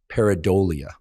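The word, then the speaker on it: pareidolia: this phenomenon um that I don't want to mispronounce cuz because then it sounds like something else but the correct pronunciation is peridia and paradia is our tendency to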